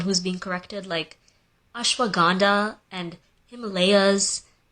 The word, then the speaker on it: Himalayas: Bro, nobody pronounces Himalayas Himalayas. Anytime I have tried to pronounce the actual word. You be real, it'd be a feat trying to get everybody to change the whole way they pronounce the Himalayas. Himalayas. Come on, bro. Nobody knew it was like that. Americans have fought me on it and been like, that's not the way you pronounce it, it's Himalayas.